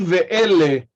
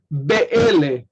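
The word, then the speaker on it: באלה: So the vowel at the end of the preceding word affects that bet, and it becomes v. So ki ve'ele rather than ki be'ele.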